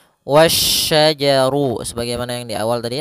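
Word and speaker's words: وَالشَّجَرُ: langsung ke huruf syin dan di sini hati-hati jangan sampai terbaca huruf huruf Sin lagi tapi dia huruf SY wasajaru sebagaimana yang di awal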